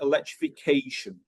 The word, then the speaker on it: electrification: Okay, if the word ends in a shun sound, and it doesn't have to be the T-I-O-N one, okay, it could be spelled differently, but the pronunciation is the same. Usually the stress is on the previous one.